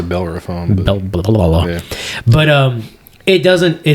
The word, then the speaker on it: Bellerophon: fantastic barley wine called bellerophon and the thing is i said it wrong oh it's a bell or a phone but um it doesn't